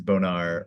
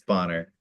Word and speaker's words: Bonner: So that's pronounced like B O N E R but sounds like Bonner or but looks like Borne.